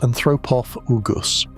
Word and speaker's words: anthropophagus: There's a related species from Olduvai Gorge in Tanzania that got named Crocodylus anthropophagus, pronounced anthropophagus.